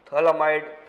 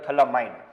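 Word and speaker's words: phthalimide: and that is Gabriel thalamide synthesis reaction. Gabriel thalamide. Here P is silent.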